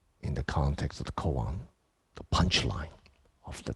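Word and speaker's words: kōan: um unique john method which is the japanese pronunciation koan in each or the english would be public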